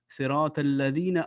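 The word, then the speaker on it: صِرَاطَ الَّذِينَ: should do is hard there should be no nasal sound for example here it will be sirata al-ladhina unarmed thali you shouldn't say unarmed this is completely wrong it has to be pronounced say rotten ladina entirely surrounding entirely him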